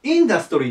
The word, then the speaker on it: industry: 書けなかったけどアクセントがねここに来るんです頭にインダストリアだでしょここなんだけどこっちはインダストリーで前に来るんですねアクセントが場所が変わるのでまそこ